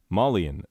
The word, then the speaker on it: Malian: Hey, Rem, did Rem butcher the pronunciation of Malian? No, I did not. Malian, a person from Mali.